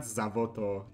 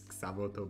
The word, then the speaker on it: Xavoto: It's not Zavoto, it's Xavoto, but yeah, it's just a drunk lion talking, so that's fine.